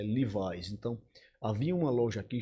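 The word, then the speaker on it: Levi's: Na década de 80 e 90, a sociedade de Arapiraca, né, a alta sociedade usava muito as marcas Zump Leves, cuja pronúncia é Livais.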